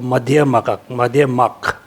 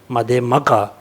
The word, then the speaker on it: Madhyamaka: First, Vaibhashika, second Sutantika, third is Chitta Mantra, 4th is the middle school, or Madhyamak. But we Tibetan pronounce Madhyamaka. Actually, I think Madhyamak is the correct.